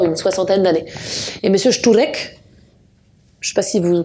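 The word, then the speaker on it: Szczurek: Mais parmi les 29, l'un d'entre eux, qui est mon préféré, s'appelle Monsieur Šturek. Monsieur Šturek, ça s'écrit S-Z-C-Z-U-R-E-K.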